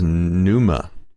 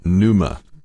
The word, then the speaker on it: pneuma: physical embodiment the logos exists as a as pneuma pneuma a substance imagined by the earliest stoics